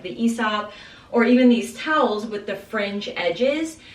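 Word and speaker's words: Aesop: cohesive so I also got ESOP I always pronounce it asop but I've learned it's pronounced ESOP uh I got it also for this bathroom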